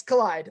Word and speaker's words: Kaleid: So it's nice collide.